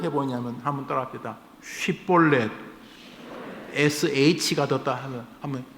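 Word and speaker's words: 쉽볼렛: 쉬에서 볼렛, 쉬볼렛, SH 발음, 쉬볼렛. 이거는 시내, 강 이런 뜻입니다. 쉬볼렛 해보라 그랬어요. 그런데 에브라임 사람들은 그 자기들 사투리가 있어서 그 쉬, SH 발음을 못했나 봐요. 쉬볼렛 해보라 그러면 시, S, 시볼렛 이렇게 했다는 겁니다.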